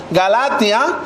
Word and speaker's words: Galatia: que se le pronuncia, en griego, que se pronuncian como Galatia, la cual significa tierra de los galos.